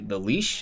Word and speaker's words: lich: Like, I mean, I've heard of it before, but like I've never gotten that much information about the lich. Is that how you pronounce it, or the lich?